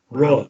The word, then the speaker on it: RAWCIEMEN: here, and then you tell me how to pronounce this. Okay. Yeah. RAWCIEMEN. Rossiman. There you go. It's like Celebrity Jeopardy. It's like wishful thinking for you there, Fensty. Ross Seaman wants to know what your favorite TV show is.